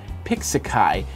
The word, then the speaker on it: Pixaki: new app it's called pixaki I believe that's how you pronounce it P iix A Ki pixaki and it's pixel art